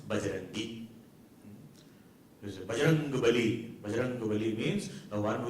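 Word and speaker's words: बजरंगी: Vajra angi but it is a little difficult to pronounce. So in the local dialect it becomes bajarangi.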